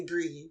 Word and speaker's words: Brie: I'm like stop it I'm I'm cheese you call me Brie don't spell it like